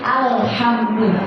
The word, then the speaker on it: alhamdulillah: Tapi lam bukan termasuk huruf qalqalah. Keseringan yang kita temukan itu bacanya bukan alhamdulillah. Jadi ada yang diqalqalahkan kayak gini. Kayak gitu. Bukan. Lamnya biasa aja, dia bukan qalqalah.